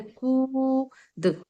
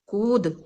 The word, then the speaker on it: कूद: कू, और फिर द, यानी कि जब भी इसको हम बोलते हैं तो काफी जो उच्चारण होता है वो काफी ऊंचा होता है, जैसे कूद, कूद।